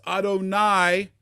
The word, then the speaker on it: Adonai: Almighty but by my name that Jewish people pronounce Adonai the Lord I was